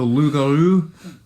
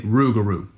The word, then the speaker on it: rougarou: some people who still call it the the lugaru but they don't say it as fancy as i've been saying it they just say loop guru oh boy obviously on the bayou now that's how they say it but a majority of the people in louisiana say ruguru okay so that's why this is titled ruguru i see is there